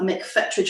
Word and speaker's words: McFetridge: in london and talking to me is paula mcfettrich if i pronounce that right yeah he's artistic director of